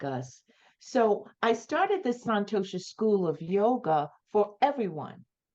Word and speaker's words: Santosha: Through the, am I pronouncing it right? Santosha School of Yoga?